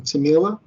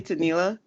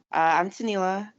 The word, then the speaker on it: Tanila: And Tamila? Am I saying your name right, by the way? I think you're saying it right. Yeah. Did you say Tanila? Yeah. Okay. I'm Tanila.